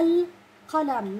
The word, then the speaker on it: القلم: هلا بالنسبه للام الشمسيه واللام القمريه، نتذكر انه اللام القمريه زي ما هي موجوده بكلمه القمر، يعني نحكي القلم نحكيها اللام، لكن بكلمه الشمس نحكي الشمس.